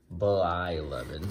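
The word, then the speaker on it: Blyleven: Now 295 is the Burt Bylevin. Sorry, wax packs. I'll say it correctly for you. I never put that other L in there. Whenever I say his name, I always say Bylevin instead of Bylevin.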